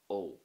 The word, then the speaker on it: ó: But when you add the fada on top, it becomes a longer O sound. O. So there's more stress and emphasis, and you usually say it that little bit longer. O.